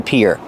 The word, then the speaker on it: pier: And the pronunciation is like ear and hear.